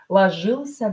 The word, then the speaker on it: ложился: Ложился на поля туман. Ложился на поля туман. So, no ы after hissing consonants. Here you hear ы, right? We don't pronounce e here. Ложился, ложи, ы, ы.